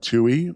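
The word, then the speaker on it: Towey: Book club was amazing with Jim Toohey, a book about Mother Teresa called To Love and Be Loved. I don't know. I had to ask him. I think it's T-O-W, but that's pronounced Toohey.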